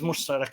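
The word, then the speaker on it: مشترك: But the usual spelling is mushtarak, or pronunciation is mushtarak instead of.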